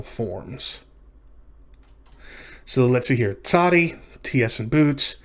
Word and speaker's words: tsadi: This is the letter tsadi, and it makes the sound at the beginning of that name. Tsadi, that TS sound that you would find at the end of the word boots.